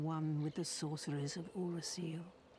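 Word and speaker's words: Oolacile: for I am one with the Sorceress of uraseel ruler seal that's how you pronounce it repair powder ooh that is nice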